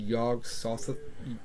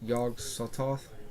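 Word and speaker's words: Yog-Sothoth: not too much about okay nameless myth had yog Sothoth I learned how to pronounce it yog sawed-off yog Sothoth I've always pronounced a yog sawed-off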